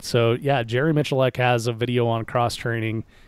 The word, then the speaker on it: Miculek: to spell his last name yeah most people mispronounce it it's Mitch elect so yeah Jerry Miculek has a video on cross-training and you know